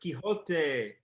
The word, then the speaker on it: Quixote: I think it's quixotic, but it's pronounced Quixote.